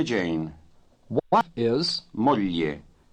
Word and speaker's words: moglie: very well, thank Signor capitano, vorrei presentarle mia moglie Jane. you. What is, Moglie. remember that the GL combination is pronounced lieu as in million.